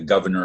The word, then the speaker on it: Gouverneur: quote was made by a man whose first name is governor it's a French word not spelled like the governor of a state but with a French spelling maras and he lived from